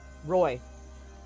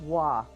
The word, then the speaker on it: Roy: It's actually, but it's pronounced Wah. Huh. Fuck, Pat- it's just a Qua thing. I think. Patrick Wah! Oh, Yeah, but spelled R-O-Y. huh. I'll be darned. Everyone thinks Patrick Roy, but it's Patrick Wah.